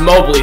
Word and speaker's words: Mobley: get outside oh yeah look at mobley it's actually pronounced mobily so we're going to go mobley from here marcus mobley got